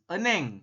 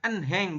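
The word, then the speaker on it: 은행: kita Artikan Apakah ada eneng eneng artinya adalah Bang ini dibacanya Eneng bukan en Heng bukan Tapi Eneng h-nya dibaca samar atau tidak dibaca boleh juga jadi Eneng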